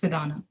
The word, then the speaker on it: Teresa Donna: of my line is teresa donna it is my namesake it is my first and middle name so it's pronounced sadana and i started this